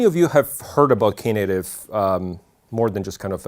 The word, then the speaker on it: Knative: just native and the case Island but properly pronounced is K native and how many of you have heard about K native more than just kind of a headliner okay